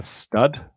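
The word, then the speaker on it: std: If I go to doc.rust-lang, go to stud, as I think it's more conventionally pronounced, and I so go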